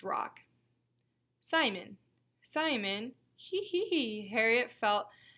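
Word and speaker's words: Rocque: your last name sport rock Simon rock It's pronounced rock Simon Simon he Harriet felt Harriet felt very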